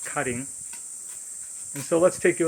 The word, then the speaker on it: Karin: room called cutting in english it's spelled k-a-r-i-n pronounced cutting and so let's take a look this is